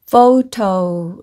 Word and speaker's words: photo: 한마디 로 표현 하자면 , 여기 서 'ph' 는 'f ' 소리 를 냅니다 . 여기 서 'o' 는 'o' 발음 을 냅니다 . 그러니까 't' 는 't' 이고 , 'o' 소리 가 더해지면 'to' 가 되므로 'photo' 라고 읽어야 합니다 .